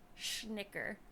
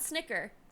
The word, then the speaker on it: schnicker: I want you to specifically pronounce sh schnicker not Snicker schnicker doodle my little schnicker